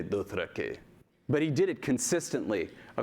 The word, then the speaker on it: Dothraki: So if he were pronouncing Dothraki, he wouldn't say Dothrakee. He would say Dothrakay.